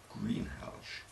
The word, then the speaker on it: Greenhalgh: As you heard, the GH is pronounced as though it were SH, Greenhalgh.